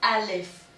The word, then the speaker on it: alif: Is the letter A, and in Arabic we pronounce it alif.